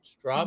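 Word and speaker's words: Stroppe: So Rob's asking, do you think the 60th will replace the strop? Did I say it right? Strop? You did. It's like stop sign.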